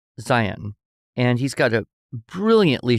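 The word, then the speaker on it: Zeihan: named Peter Zion, but his name is spelled Z E I H A N. Okay. But he says Zion, and he's got a brilliantly short podcast.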